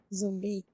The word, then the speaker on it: zumbi: In Portuguese, you say zumbi.